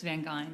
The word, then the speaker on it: Van Geyn: It's Van Geyn. Like Van Geyn.